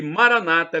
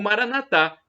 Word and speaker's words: Maranatha: para o seu bem a Maranata é como dizem os protestantes evangélicos ou Maranatha como dizemos nós católicos com a tônica na última sílaba os evangélicos coloca uma tônica na penúltima sílaba não importa é do